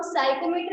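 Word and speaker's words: psychrometer: उसके अलावा हम साइकोमीटर भी इसे बोलते हैं, पी साइलेंट रहेगा।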